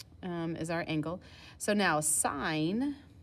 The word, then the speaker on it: sin: our angle so now sine written as sin is pronounced sine it is your opposite